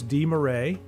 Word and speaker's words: DeMarais: So, week from tomorrow, so Thursday, October 10th, Gordy DeMarais. I've mispronounced his name many ways, but he told me it's DeMarais.